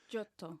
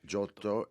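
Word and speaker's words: Giotto: Jotto. Yeah. Jotto.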